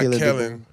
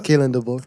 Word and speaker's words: Kalen DeBoer: the Monday Brain, and it's not Kellen. I said it right now. Kalen DeBoer. Kalen DeBoer. I was about to say Keelan.